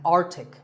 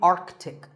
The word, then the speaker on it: Arctic: Pole of the earth it's mispronounced by many as Arctic but it's actually Arctic the sea in the middle is not silent similarly aunt Arctic and